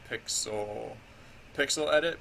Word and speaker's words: Pyxel Edit: Oh yeah, so this pixel editing program that I have right here is pixel edit, pixel spelled with a Y, PYXEL edit.